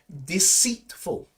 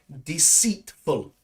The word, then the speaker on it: deceitful: And maybe the pronunciation of this one is a little bit challenging. Deceitful. Deceitful.